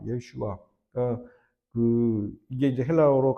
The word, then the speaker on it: 예슈아: 여러분들 예수라는 말 히브리어로 예슈아입니다. 예슈아.